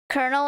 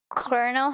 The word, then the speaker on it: colonel: one stolen from French I think Colonel and Colonel have the same pronunciation yeah the first time I learned about that I was so freaked out like what do you mean you pronounce Colonel as Colonel that doesn't make sense English class uh-huh is